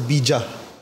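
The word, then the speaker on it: बीज: Now, in Sanskrit, BEEJ is really pronounced as BEEJA.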